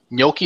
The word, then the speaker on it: gnocchi: Gnocchi, is that how you say it?